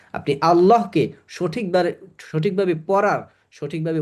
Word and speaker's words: আল্লাহ: আপনি আল্লাহকে সঠিকভাবে সঠিকভাবে পড়ার সঠিকভাবে উচ্চারণ করার নিয়ম শিখছেন এবং সেটা প্রাকটিস করবেন তাতে কিচ্ছু আসে যায় না কেউ হাসলে।